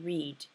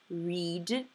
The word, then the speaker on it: read: Now, see how read and read have the same spelling but different sounds. I read a book yesterday. R-E-A-D, but it sounds like the word red for the color red. I read a red book, right? Present, it's read, read, R-E-A-D. Same letters, different sound.